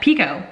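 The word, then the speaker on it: Picoult: home by jody pico which i've been saying her name wrong so much but pico that is what it is i rated this four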